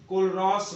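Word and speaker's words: Kohlrausch: कोलरॉस लॉ सबसे important law है, इसका उच्चारण अगर आपको नहीं आ रहा है हम यहां लिख रहे हैं कोलरॉस लॉ।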